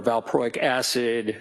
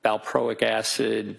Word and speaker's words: valproic acid: I mean, for example, lithium or carbamazepine or valproic acid, those are all mood stabilizers.